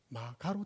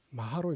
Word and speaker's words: 마하: 그런데 한자 보시면 여러분들 한자가 마하가 아니죠 마가로 돼 있습니다 근데 우리는 읽을 때 어찌 읽습니까 보시면 가짜 아닙니까 마하로 읽습니다 왜 음사 거 아닙니까 산스크리트 발음대로 한 겁니다 그래서 마가로 적어놓고 마로는